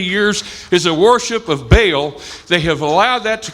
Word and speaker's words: Baal: following this character named ba'al or Baal as we pronounce it and the first thing